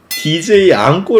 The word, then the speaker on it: Django: 장고 의 철자 는 DJANGO 입니다 . D 는 묵음 이므로 Jango 입니다 .